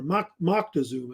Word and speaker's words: Moctezuma: And the current ruler of the Aztecs was a man named Montezuma or Moctezuma. He's pronounced either way. It's fine.